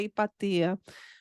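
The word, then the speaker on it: Hipátia: relação ao que aconteceu a hipatia porque ou ipaa não sei como que você pronunciam isso em português em grego é ipaa que ela foi uma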